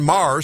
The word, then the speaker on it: Maher: And in the days afterward, then, Catherine Marr, spelled like Bill Maher, but I don't think any relation, came under fire for all of her past social media posts, some of which were deeply progressive.